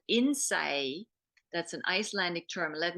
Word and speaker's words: Innsæi: from Iceland, of all things, and it's called Innsæi. That's an Icelandic term. Let me spell that for you.